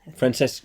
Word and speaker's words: Francesco: You're right, Francesco. Francesco. Because there's no H in it. You see, that's why I was a bit confused. Because Chesco, Yeah. as in Chichester.